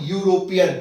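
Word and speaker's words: European: ही इज द यूरोपियन, अब यहां पर देखो ई, ई क्या है, ई तो एक्चुअली में वॉवेल है, लेकिन इसका प्रोनाउंसिएशन जब करें यूरोपियन, तो हिंदी में या आएगा, या यति का, यूरोपियन, तो यू उसके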